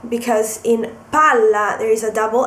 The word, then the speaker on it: palla: example will be uh Pala and Pala so if if you pronounce Pala so you emphasize the L because in Pala there is a Double